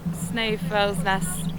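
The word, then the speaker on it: Snæfellsnes: easy to get here still on the snow FS Nest Peninsula we did look up and apparently that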